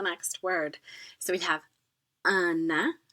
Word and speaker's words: un: So which makes that difference versus un and une. They're both one, but the N's do not get pronounced if there's no E following it, and the vowel in front becomes nasalized, so it's un.